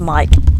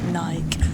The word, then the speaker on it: mic: to move the M the mic is definitely pronounced mik over here and not not Nike that's a that's a